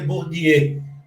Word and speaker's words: Bourdieu: A pronúncia certa seria Bourdieu, mas você não precisa falar francês para fazer entrevista, tá?